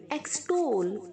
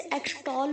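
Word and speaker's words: extol: एक्सटोल, बहुत सारे बच्चे से एक्सटॉल बोलते हैं, एक्सटॉल नहीं है बच्चों, एक्सटोल। ओके, टोल नाका का आप यूज करते हैं ना, वैसे ही आप इसे प्रोनाउंस करेंगे।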